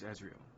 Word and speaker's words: Ezreal: It's Ezreal, like Ezekiel. It's Ezreal.